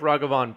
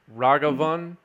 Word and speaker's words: Ragavan: i don't know if kaplan wants to cast an idol on here that doesn't seem correct to me it's actually pronounced ragavan and not ragavan i don't know i